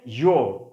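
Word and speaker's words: you're: So friends, এখানে দেখুন প্রোনাউন্সিয়েশনটা কিন্তু কি হয়েছে? ইয়োর, প্রোনাউন্সিয়েশনটা ইয়োর, ওকে, এভাবে উচ্চারণ করতে হবে।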